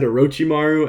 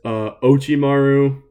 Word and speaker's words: Orochimaru: He said Orochimaru as Ochimaru and couldn't pronounce Sarada as well, but it's fine.